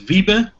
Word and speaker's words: Wiebe: who I am uh my name is VI it's a really difficult name to pronounce but when you say just via that's fine I'm a uh Mobile